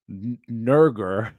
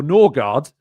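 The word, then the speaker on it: Nørgaard: That said, Christian Nurger, as he sometimes pronounced it, or Norgard, he said it in different ways, depending on where he is.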